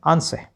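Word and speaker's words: answer: देखो लास्ट में R आया है इसलिए मैंने यहाँ पर भी ध्यान रखा है कि R का उच्चारण हमने नहीं करना, तो इसको क्या पढ़ेंगे आंसर, ठीक है।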